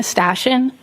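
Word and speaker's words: Stashyn: My name is Stashion. First name is spelled.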